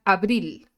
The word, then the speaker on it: abril: Bueno, por ejemplo, tenemos la palabra abril. ¿Dónde suena más fuerte? En la segunda sílaba. En la última sílaba, más bien, no en la segunda sílaba, en la última sílaba. Abril, ¿no?